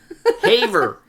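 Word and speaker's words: Havre: know how they fren how would they pronounce it in Montana yeah in French it would be a but in Montana Haver Haver yeah maybe ha okay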